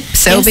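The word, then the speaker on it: Selbii: Yep, Selby. Yes. So it's spelt S-E-L-B-I-I for those people who want to look it up as soon as I start playing the song.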